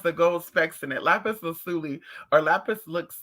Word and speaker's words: lapis lazuli: love lapis lazuli why i heard someone pronounce it the other day like lapis let it they do that rasta rasta they be doing it and i just think to myself like girl like girl lapis lazuli i love how it